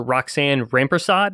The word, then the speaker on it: Roxane Rampersad: Roxane Rampersad. Am I pronouncing it correctly, Roxane?